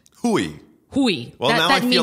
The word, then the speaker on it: Hui: No, you see, the thing is, like, because it actually means dick in Polish and Russian, so I always say Hui, but the thing is, you pronounced it the way it's supposed to be pronounced. Hui.